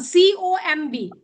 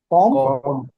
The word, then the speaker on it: comb: This one, COMB. इसका मतलब है कंघी. What do we say? Comb. B is silent.